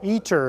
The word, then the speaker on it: ITER: eat your problem ITER eater is how we pronounce fish it's being it's being built in southern France but it's a worldwide collaboration the u.s. is responsible for about 9 percent of the eater scope and that in